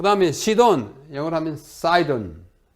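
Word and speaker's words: Sidon: 남쪽에 있는 것이 두로, 영어로 Tyre, T-Y-R-E, Tyre라고 발음합니다. 두로. 그 다음에 시돈, 영어로 하면 사이돈.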